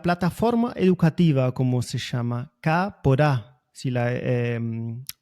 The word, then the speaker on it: Kaapora: poco sobre la plataforma educativa, como se llama, K por A, si la pronuncio bien. ¿Es un tipo de emprendimiento tuyo o quién hay atrás, qué y quién hay atrás de ese nombre? Bien, bueno, Cápora significa planta linda o planta buena en guaraní Ajá.